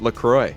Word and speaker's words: LaCroix: Lacroix salud so today Lacroix officially tweeted out the proper way to pronounce Lacroix what do they say it's Lacroix yeah you feel like